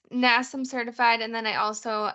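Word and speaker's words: NASM: it am I did I say it right nasam certified yeah it's nasam certified and then I also am a nutrition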